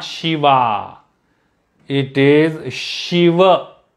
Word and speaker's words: Shiva: shiva it is shiva there is an a sound so we have to it's not shiv it is shiva it is not shiva it is not shiv it is shiva so that a sound is there at the end but it is short shiva ram not shiva not